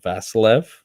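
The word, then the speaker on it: Vasiliev: scientist named uh Leno vasilev v a s i l IE V lean Vil uhuh you just have to pronounce it with a Russian accent for me to understand it there you go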